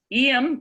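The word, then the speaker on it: Eyam: Yes, EM, which is spelled E-Y-A-M, and I'm possibly pronouncing it correctly, is in Derbyshire, which is sort of north central England.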